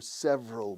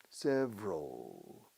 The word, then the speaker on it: several: They've been in contact for several months. Varios meses, several. Several, escrito, pero se pronuncia como dos sílabas, several, pencil, April, varios lápices de abril, several April pencils.